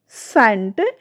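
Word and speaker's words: scent: जब एस के तुरंत बाद सी आता है तो अक्सर सी जो हमारा है वो साइलेंट हो जाता है। एग्जाम्पल देखिए, मसल्स, शाइन्स, सीन, सेंट।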